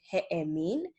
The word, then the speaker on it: he'emin: And notice that we have an E sound in that third syllable, okay, with the yod, he'emin, he'emina, and he'eminu.